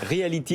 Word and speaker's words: Realetee: Reality, merci. Alors ça ne s'écrit pas comme Reality, c'est un E à la place du I et c'est deux E à la place du Y.